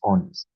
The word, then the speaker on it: honest: In this case our adjective is honest. So the adjective itself when you spell it, it starts with an H. But when you pronounce it, it starts with the O sound, which is the vowel sound.